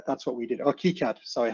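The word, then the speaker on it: KiCad: We designed all those in Kyad at the time because actually we couldn't afford an altium license. Uh so that's that's what we uh that's what we did or Keycad sorry how you pronounce it.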